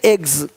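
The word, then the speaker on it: eggs: जैसे कि यहाँ पे रूप्स, यहाँ जा साउंड नहीं आएगा, लेकिन यहाँ पे एक्स नहीं एग्स।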